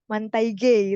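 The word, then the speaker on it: manteiga: ikut Nah ini ada Man manta G itu mungkin pronunsinya kayak apa ya Bahasanya Portugis ya tapi mantaige gitu ya jadi bentega karena kalau mantaige itu agak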